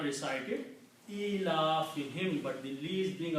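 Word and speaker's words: إِيلَافِهِمْ: So it's pronounced as him, not whom. Ilafihim. Okay. Even though originally the word is whom, but for tajweed easiness, speaking for this pronunciation, we just pronounce this as also a kasra. Separately, him is not a word in Arabic, it's whom only. But in the pronunciation, sound changes only.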